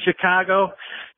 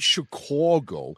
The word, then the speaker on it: Chicago: Chicago we're discussing this not Chicago Chicago Chicago you gotta hit that a so what we'll know